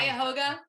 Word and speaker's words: Cuyahoga: How do you pronounce Cuyahoga?